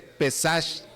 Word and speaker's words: Pesaj: Bueno, vamos a la siguiente parte que es se llama Pesaj, aunque se dice Pesag. Pero se escribe pesaj, que eso es pasar, pasar, verad, pasar por alto.